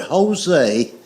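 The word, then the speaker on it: José: The word Jose is Jose, but it's pronounced with an H.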